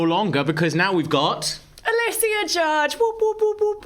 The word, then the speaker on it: Alysia: Alysia.